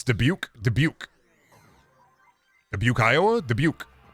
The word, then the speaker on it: Dubuque: Brendan, how do you pronounce Dubuque? Dubuque.